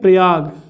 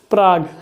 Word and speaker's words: Prague: Check गणराज्य की राजधानी क्या है, प्रयाग, सॉरी प्रयाग नहीं, प्राग। क्या है राजधानी, प्राग, ओके, प्रयाग नहीं, ये प्रयाग तो, प्रयागराज तो अपना इलाहाबाद है। प्राग, प्राग, प्राग, अंग्रेजी में स्पेलिंग देख लीजिए प्राग की, PRAGUE, प्राग, ठीक।